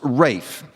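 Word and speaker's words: Ralph: Although his first name is spelled R A L PH, it's pronounced Rafe.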